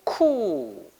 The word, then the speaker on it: coup: 쿠 쿠 됫다 때문에 이걸 coupe 라고 쓰고 쿠 쿠 라고 읽어요 p 바로 만해요 코덱